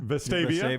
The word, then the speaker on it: Vestavia: settled, I was staying over, how do you pronounce it? Vestavia? Vestavia, yeah.